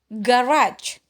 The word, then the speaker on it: garage: Garage. G yang pertama dipronounce G murni ya, atau dipronounce hard. Sedangkan G-nya yang kedua dipronounce J karena dia diikuti oleh huruf E ya, garage.